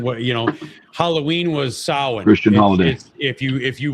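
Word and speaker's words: Samhain: You know, Halloween was sin Christian. If you if you want to look it up, it's it's actually spelled nothing like it like it sounds.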